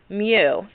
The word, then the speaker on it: mu: materials in contact so the symbol for the coefficient of friction is a Greek symbol and it's pronounced mu and see the little